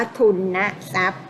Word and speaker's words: ทุนทรัพย์: เป็น ประสมคำ แล้ว เป็น คำ ว่า ทุนทรัพย์ เรา ต้อง อ่าน ว่า ทุนทรัพย์ นะ คะ อ่าน ทุน นะ จ๊ะ เป็น หลัก ของ คำ สมาส นะ คะ เมื่อ อาตมา